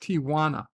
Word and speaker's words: Tijuana: Tijuana like what like it's pronounced Tijuana there's no there's no Tia like what are you